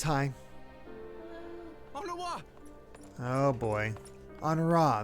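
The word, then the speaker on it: Honoroit: Honora, that's how you say it. It's French. Amy still needs to see the direct. No. What have they done to you? Onowa!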